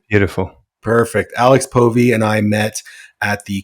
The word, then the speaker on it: Povey: across the pond by my new friend Alex poie am I pronouncing your name correctly beautiful perfect Alex poie and I met at the coaches room Mastermind